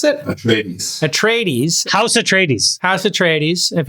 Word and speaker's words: Atreides: How do you pronounce it? Atreides.